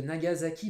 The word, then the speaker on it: Nagasaki: japonais banzaï nagasaki et oui la ville de nagasaki bar japonais sénat gaza qui ça s'écrit avec un ace alors nous as as